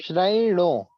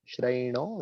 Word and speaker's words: श्रयणो: श्रयणो, इस पे ध्यान देना। श्रयणो, हाँ, श्रयणो लभन्ते।